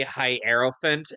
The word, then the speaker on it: Hierophant: h hofun like huh it's supposed to be hierophant as in named after the hierophant Tero card yeah hro yeah that's pronounced Hof font oh so he did pronounce